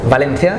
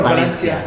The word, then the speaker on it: Valencia: it's a small town valencia that's valencia or valencia in spanish we say valencia valencia but is but